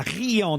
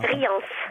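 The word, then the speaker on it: Rians: Vous êtes à Riant dans le Var. Riance. Riance. Ah, on doit prononcer le S, pardon.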